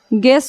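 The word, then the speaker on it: guess: जी आई से गी ये यू हमारा क्या हो जा रहा है साइलेंट हो जा रहा है गिटार हो गया उसी तरह से गेस है गिल्टी है गिल्टी मींस अपराधी होता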